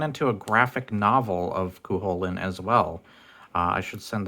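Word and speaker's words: Cú Chulainn: love the character of Cuchulainn. I hate that they call him Cuchulainn in the frickin' Smite. If I have one pet peeve, it's supposed to be pronounced Cuchulainn. The CH makes an H sound, you dumbasses.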